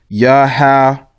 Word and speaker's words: Yahawahshi: read in the Tanakh, it might say Yahawah Yahawah. That's wrong too. That's the wrong pronunciation. Okay, you would take this Y out, and actually it's just Yahawahshi.